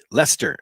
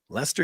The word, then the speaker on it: Leicester: thanksgiving from lysator uk leicester is is how it's pronounced lester uk this is what